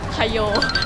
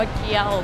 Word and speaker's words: Kyo: ฟิล์ม เกี๊ยว ร O ตอน แรก ฟิล์ม อ่าน ว่า อะไร อ่ะ คโย ตัว เค ไง แล้ว โอ คโย ที่ จริง อ่าน ว่า เคียว เคียว โลโย พี่ ฟิล์ม